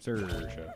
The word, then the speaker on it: Saoirse: Saoirse. Oh my god. I went with how I used to pronounce it.